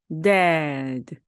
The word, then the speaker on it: dad: 그래서 어떻게 발음해야 되냐면요. dad, dad 그죠? that이 아니라 dad입니다. 이때도 옆에 있는 것처럼 미끄러움이 쭉 내려가듯 바로 리듬을 타고 발음을 하셔야 됩니다. dad가 아니라 dad, dad입니다.